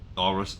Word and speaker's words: Thalrisan: I really wish it was Thalrisian. But it's not. It's Thalrisan. Okay.